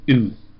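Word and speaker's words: οὐ: kind of has um a double o sound oo kind of like the ooh in soup oo and it by itself is actually a word ooh and it is a word that basically means not.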